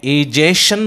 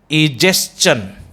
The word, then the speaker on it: digestion: इसमें भी आपके देखिए STION की एंडिंग आ रही है, तो इसे जो है इजेशन बोलेंगे आप, या बोलेंगे इजेस्चन. सो इजेशन इज a wrong pronunciation, इजेस्चन इज the correct pronunciation.